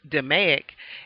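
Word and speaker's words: DMAIC: repetitive or continuous production DM AIC C pronounced demic is the basis for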